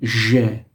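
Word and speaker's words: ژ: It's called je. It's like it has the sound of the character, the sound beige in the color. When you describe the color, the je sound.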